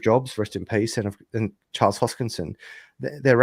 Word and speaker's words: Charles Hoskinson: I'm bullish on Avalanche, and also Phantom, But Cardano, I know that you've interviewed God, I can never pronounce his name properly. Hoskinson, Charles Hoskinson.